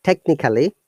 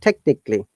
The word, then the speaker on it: technically: We do not pronounce A. So it is not technically. Remember from today, try to pronounce it technically, physically, basically, globally, nationally, internationally.